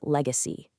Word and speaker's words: legacy: And our final word is legacy. Legacy, a noun. Pay attention to the soft, gentle G sound. Leg-ca cy.